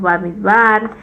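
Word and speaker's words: במדבר: luego tenemos shemot luego tenemos baik luego tenemos bamidbar y después de barim beres que significa en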